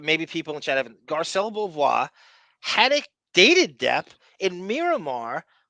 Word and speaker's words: Garcelle Beauvais: Know this broad, Garcelle Beauvais.